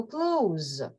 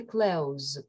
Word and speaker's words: clothes: Або зверніть увагу, clothes. Одяг, clothes, clothes. Звук «th» is not comfortable to pronounce. Незручно вимовляти звук «th», його можна опускати.